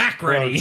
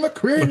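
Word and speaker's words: MacReady: me with this McReady. pronunciation, man. I'm going to re-listen to this episode, and I'm just going to be screaming into a car, be like, no, it's fucking McCready.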